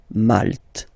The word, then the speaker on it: Malte: Malte.